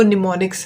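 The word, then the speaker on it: mnemonics: इसको जो प्रोनाउंस करना है वो निमोनिक्स है, हम निमोनिक्स बोलते हैं।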